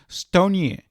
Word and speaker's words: Stone: By the way, I just learned how stone is pronounced in Brazilian, and it's pronounced stonier.